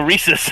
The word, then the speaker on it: Reese's: i brought up the reese's rhymes with feces and she never ate